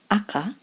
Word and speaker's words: 赤: way it's red without a doubt now it's pronounced AKA when it's a noun so when you're talking